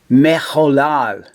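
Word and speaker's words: מחולל: And then you have the H with a little dot in the upper left-hand corner, which it makes the O sound, ho. And then the L with the A vowel, la. And then you end with another lamed, la, mecholal.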